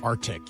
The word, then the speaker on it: RTIC: Grand Prize winner will get a Surfside prize pack, including the RTIC cooler. Is that how you say it? Or Arctic? Arctic. Yeah, Arctic.